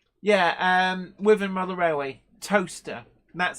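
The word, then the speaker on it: Towcester: it's spelled Tau t-o-w sester c-e-s-t-e-r but it's pronounced toaster Bluegrass rail fences most of the Kentucky towns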